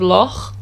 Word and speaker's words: loch: that sound is to think about the scottish word for lake which is la now if you can say that if you can say that sound the at the end of loch then you can say that it's the same thing and that's pretty much